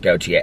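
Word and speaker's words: Gotye: i love that song it's pronounced goatee i knew that i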